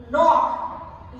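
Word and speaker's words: knock: जैसे अब यहाँ लॉक, यहाँ के साइलेंट हो गया है, के का उच्चारण नहीं हो रहा है। नॉक यहाँ, इसी तरह नाइफ, नाइफ भी लिखते हैं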